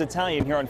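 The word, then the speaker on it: Italian: It's inside Alma's EYE- talian, as the restaurant pronounces it.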